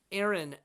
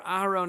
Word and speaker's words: Aharon: Who is Aaron, or Aharon as we pronounce it, maybe more in a more Hebraic way?